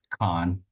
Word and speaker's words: Khánh: My name is how you pronounce it in Vietnamese, but Khan would be the American pronunciation.